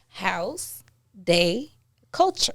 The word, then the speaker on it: Haus De Kulture: more time for the people in the back house day culture there you go can could you spell it out for them just because you know